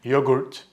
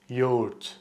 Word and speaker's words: yoğurt: Maybe you said yogurt. But in Turkish, we pronounce it as yoğurt. Yoğurt. Now the tricky part with this word is the soft G in the middle. It basically makes the previous vowel longer.